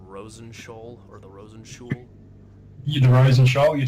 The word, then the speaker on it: Rosenshoul: The Rosenshoul, you said it right.